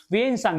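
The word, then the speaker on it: Xuanzang: इसके बाद मैंने आपको बताया कि वेनसांग, ये वेनसांग लिखा हुआ है, हाँ जुआंग जुआंग लिखा लेकिन वेनसांग है ये, ठीक है ना।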